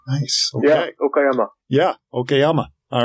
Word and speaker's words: Okayama: Yeah, Okayama.